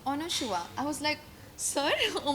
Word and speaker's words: Anasua: तो करण जौहर ने बोला था कि ऑनशुआ. आई was like Sir, oh my god, how are you taking my name so properly? Because that is my pronunciation.